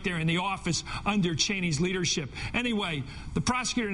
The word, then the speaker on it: Cheney: Dick Cheney, and that's how you pronounce his name, was out last night